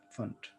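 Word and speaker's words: Pfund: So this is pronounced as fund series.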